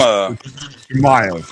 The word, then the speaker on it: Chimaev: His name is Chimaev. Okay, so Plessis and Chimaev. Thank you, Dean Thomas, for pronouncing his name.